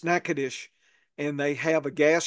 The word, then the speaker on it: Natchitoches: I'm going to recommend one in Natchitoches. The Yankees don't know how to pronounce that. They'll call it Nacogdoches and all Oh these other yeah. terms. It's Natchitoches, and they have a gas station, Little Cajun,